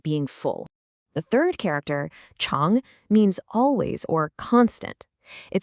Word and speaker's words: 常: The third character, Chong, means always or constant.